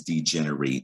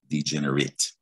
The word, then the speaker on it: degenerate: verb this word is degenerate you hear eight at the end but the noun and the adjective are pronounced differently they're pronounced degenerate all right so either